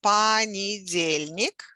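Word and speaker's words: понедельник: days of the week so the stress is on the second from the last syllable for monday so monday is pani jaelnik and the word comes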